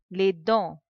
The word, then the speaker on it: dents: The last two letters TS, they are silent. We do not pronounce. Les dents.